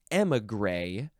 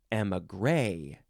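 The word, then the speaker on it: émigré: Next is emigre or emigre. Emphasize the first or the last syllable.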